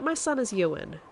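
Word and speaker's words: Euan: fine um and um I tell people you would like you and McGregor and they go all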